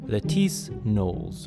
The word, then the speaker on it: Lettice Knollys: Her name is pronounced Letis Nolles, like Beyonce.